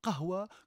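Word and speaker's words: قهوة: Et quand on dit kawa, bien évidemment, on prononce à la française le mot kahwa que nous prononçons de manière relativement difficile à rendre pour les locuteurs de langue latine.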